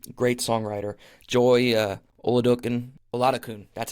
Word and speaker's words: Oladokun: to Brett Denon great songwriter Joy uh okin oladokun that's how you say her name my apologies